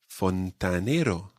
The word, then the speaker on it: fontanero: who works with fountains fontanero when you say the a sound of the fontanero try to open your mouth wide fontanero or if you're